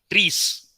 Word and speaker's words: TRIZ: So any structured solution for this thing, it is trees. It must be pronounced as trees, not trees.